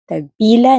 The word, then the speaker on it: tagpila: But if you are pointing to multiple items away from you, you are going to ask, tagpila na sila.